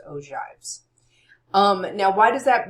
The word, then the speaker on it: ogives: So we have histograms, we have frequency polygons and we have what are called ojives. I know that looks like og but it's pronounced ojives.